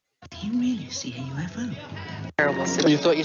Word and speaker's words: UFO: So UFO. This one is pronounced as an initialism. It's letter by letter. UFO.